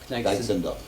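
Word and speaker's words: Gneixendorf: Et à côté, Kneixendorf, c'est Oui. comme Strasbourg-Gilligren. Ça s'écrit G-N-E-I, Kneig, G-N-E-I, Kneig, Z-E-N-D-O-R-F. Z-E-N-D. D-O-R-F. Kneixendorf, Voilà. comme ça se prononce. Kneixendorf.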